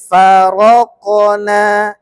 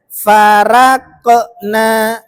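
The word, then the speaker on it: فرقنا: Wa il faraqna bikumul bahra fa Ini bacanya farokona. Jangan dibaca farakna. Enggak. Faro. Ro-nya tebal. Ya.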